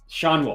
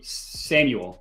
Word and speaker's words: Schanuel: His name's Schawnuel. I want to say Samuel, but I know it's not right.